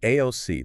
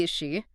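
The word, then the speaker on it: aos sí: The AOC, that's A-O-S, S-I. How do you say that? Roughly is she, the people of the mounds or the fairy folk, but not like Tinkerbell.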